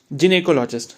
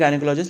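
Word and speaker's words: gynecology: फिर नेक्स्ट है हमारा जिने कोलॉजी तो जिने कोलॉजी प्रोनाउंस होता है वैसे हम बोल लेते हैं गाइनेकोलॉजिस्ट लेकिन वो गलत है ठीक है तो जिने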